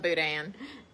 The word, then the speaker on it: boudin: I'm coming up here I love Boudin oh gosh but to me there it's got an n in it too because me and